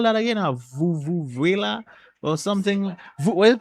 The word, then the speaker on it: vuvuzela: A vuvuzela or something? What is it pronounced?